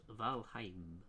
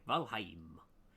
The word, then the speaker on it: Valheim: so you can really decorate your place uh pronounced valheim okay valheim hello yes uh um but yeah big thank